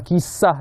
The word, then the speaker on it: KEY-sah: Saya nak mulakan dahulu dengan istilah kisah itu sendiri. Walaupun bacanya KISAH lah, tapi A-nya tu lain macam.